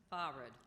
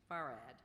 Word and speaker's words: farad: far could you repeat the word far are there any alternate pronunciations farad fared f a r r